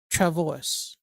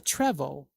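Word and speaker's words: travois: Travo. Tra. Travo. Travo. The S isn't pronounced. Okay. It's a Tvo.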